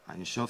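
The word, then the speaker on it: אין סוף: Einshof, c'est la correcte prononciation de sans limite en hébreu.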